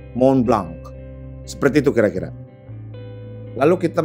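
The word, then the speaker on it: Montblanc: Tapi karena jam tangan ini perusahaan Jerman, jadi setiap hurufnya itu harus dibaca, jadinya Mont Blanc. Di belakangnya ada K sedikit, gue ulang, Mont Blanc.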